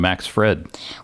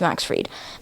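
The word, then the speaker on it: Fried: hears you call him Max Fred well I didn't know his name I didn't know how to pronounce it Max is it Max freed yeah okay so it's Max freed but fighting Cruise Shaw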